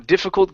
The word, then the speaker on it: difficult: All right, now on difficult, give me a short I instead of diffe.